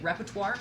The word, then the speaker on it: repertoire: You mispronounced the What did I word. say? What did I say? Repertoire. Repertoire. That's just a different word.